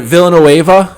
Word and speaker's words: Villanueva: And then Villanueva, is that how you say his name?